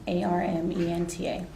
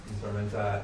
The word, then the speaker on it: Armenta: last name Smenta, R M E N T A. And Smenta, I I'm pronouncing that correctly.